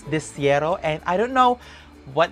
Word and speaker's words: De Cero: I know how to pronounce it correctly. It's De Cero, and I don't know what is the name